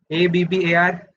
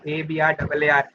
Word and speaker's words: Abrar: ABBAR. No, I'm not ABBAR. I'm ABRAAR.